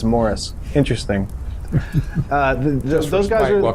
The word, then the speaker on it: Maurice: stronger more strong yeah it's spelled maurice but he says it's morris interesting uh those guys